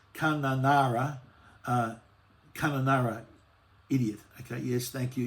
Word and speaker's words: Kununurra: Benny's again had a go at my Benny T's having a crack at my pronunciation. It's Kununurra, idiot.